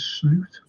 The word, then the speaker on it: Slot: hopes for Liverpool under Slaughter is his proper pronunciation is slute UN slute Liverpool should go all